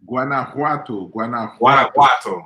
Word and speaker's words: Guanajuato: How do you say that? Guanajuato. Okay, Guanajuato. I know it wasn't Guantanamo, but Guanajuato. No, Guanajuato in Mexico.